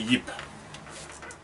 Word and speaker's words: Ip: It's actually Yip. Actually, when it's pronounced in Chinese, it's just Yip.